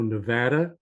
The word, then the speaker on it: Nevada: to us from Reno Nevada and I have to pronounce that one properly because my son lives there now and every time I screw up he corrects me so uh Nevada Tom is a psychotherapist